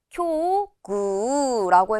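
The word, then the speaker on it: 境遇: 그런데 이번에는 경우, 처지를 뜻하는 단어, 얘도 우라는 발음이 오지만 얘는 쿄구라고 해서 구 장음으로 읽은 걸 봐주셔야 돼요.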